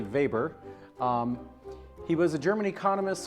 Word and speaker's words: Weber: In German, we pronounce the name Max Weber. He's best known for the Protestantismus-Kapitalismus these. As an American, we'd see this name and think his name is Max Weber. It's really Weber.